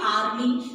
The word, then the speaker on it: hourly: Now this word hourly, in this word H is silent. And we speak hourly.